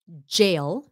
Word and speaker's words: jail: Vui lòng chị Cách đọc jail, jail and county. Jail, jail, cái chữ đầu, jail, là like a hand sanitizer cũng là một cái gel.